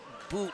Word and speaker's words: Boot: Jack Boot like flute. He has 250 kills. Flutier, isn't it? No, flute like a flute like you play. Oh, Flutie is spelled F-L-U-T-I-E. So it's Boot.